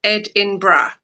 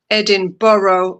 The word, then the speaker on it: Edinburgh: Edinburgh, the most commonly Edinburgh is the most commonly pronounced as Ed-in-bra or Ed-in-bra. Typically with three syllables. Right? is this so difficult? I I have problems Incorrect pronunciation Incorrect pronunciation Edinburg, Edinboro, or Edinboro.